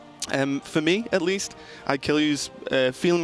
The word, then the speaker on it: Ikealyou: straight off the bat we have some pronunciation issues here Raven I'm not known for that it's I kill you okay every single time